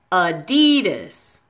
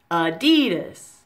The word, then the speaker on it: Adidas: like this D dhis with the most stress on that middle syllable on D adidas now